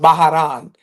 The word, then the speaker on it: Bahrain: My favorite city was um Ba Bahrain, which is pronounced Baharan.